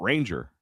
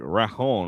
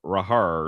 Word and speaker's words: Ranger: It's not Ranger. It's like Rajon or Rahar or something like that.